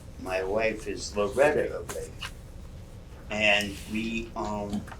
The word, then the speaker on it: Abate: So the American pronunciation is Abate. And we grew up as Abates. When we got to Worcester Street, people were saying the correct pronunciation is Abate. And there were people that had relatives on the other side who said it's Abate, it's not Abate.